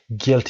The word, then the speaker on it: guilty: guilty این یو رو تلفظ نکنید. silent letter هست. guilty ای کشیده در انتها داریم، استرس در اول.